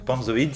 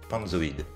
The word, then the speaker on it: Panzoid: Donc PalmZoid, ça s'écrit P-A-N-Z-O-I-D. PalmZoid.